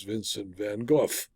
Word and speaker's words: Vincent van Gogh: by Vincent van Gogh which he of course pronounced correctly as Vincent van Gogh the adjuster was surprised that anyone who owns